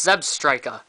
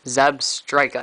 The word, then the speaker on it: Zebstrika: one zeb striker it's zeb strika it's like a strike of lightning zeb striker not zebstrika like i've